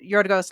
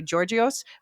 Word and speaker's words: Yorgos: Now, most Americans would look at his real name and say Georgios, but I happen to know Oh. I've had friends with that No, name yeah. before. It's Yorgos.